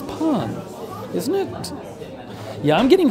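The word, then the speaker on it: pain: Oh, pon in the end is muted? Really? Is it? Pa? It's not pa, it's pon.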